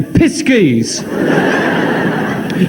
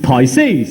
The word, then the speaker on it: Pisces: I can always say piskies. Oh, no. No. I think you'll find that's pronounced Pisces.